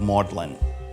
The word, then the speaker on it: Magdalen: here at modelin College named after Mary Magdalene but keeping its Middle English pronunciation of maudlin Lewis was 26 it